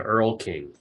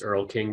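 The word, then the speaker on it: Erlking: stems from Earl Conan and it's okay the Earl King and it looks like Earthling but it's Earl King but it's also sorry I pronounced it wrong yeah it's e-er-l-k-i-n-g and um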